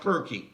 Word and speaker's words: Circe: You will find the word Circe, or sometimes pronounced Kirky.